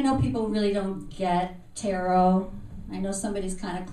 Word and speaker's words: tarot: I know people really don't get tarot. I know somebody's kind of clueless when they come up to me and say, so what exactly is tarot? Yeah. When it sounds like carrot rhymes with carrot, I know I'm going to have a problem.